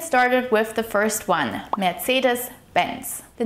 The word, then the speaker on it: Mercedes-Benz: When pronouncing Mercedes Benz, the emphasis of the word should be placed on the first syllable of Mercedes and the last syllable of Benz. So it should be pronounced as Mercedes Benz. It is also important to note that the C sound here in Mercedes is more like a harsh TS sound. Tss, tss. Mercedes. Mercedes Benz.